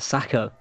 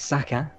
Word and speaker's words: Saka: name wrong all season why he's not sakura he's sucker did i say sako